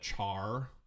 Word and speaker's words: char: of this right here I call it care because care is short for character but you'll also have people call it Char or car and everybody